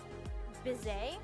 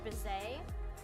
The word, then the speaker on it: Bizet: So, the opera was actually written by Bizet, I think is how you pronounce it. Georges Bizet, and it is based off, the novella by the same title by Prosper Mérimée.